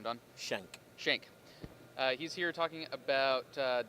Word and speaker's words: Schenck: how do you say your last name done shank shank he's here talking about dotnet on rel